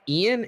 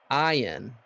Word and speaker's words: Ein: It is not pronounced Ian. It's pronounced Ian. It's Correct? Ein.